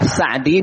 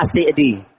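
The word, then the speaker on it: السعدي: Nah, bisa dibaca Assa'di, bisa dibaca Ass'di ya. Tapi orang kota Unaisah itu bacanya Ass'di. Penduduk di situ bacanya asi'di.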